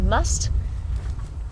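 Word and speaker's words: musth: cycle and that's spelled m th H and pronounced must and con in the Netherlands you were wondering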